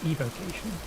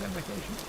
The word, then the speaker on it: evocation: There's no It's pronounced invocation, but there's no N in it. It's evocation. I pronounce it invocation.